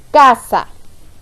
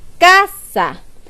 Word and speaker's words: casa: tenemos separadas en sílabas cuando yo pronuncia la palabra casa yo pronunció con más fuerza la sílaba k porque yo digo casa yo no digo casa si yo dijera casa no tendría mucho sentido no es como nosotros decimos la palabra nosotros decimos casa y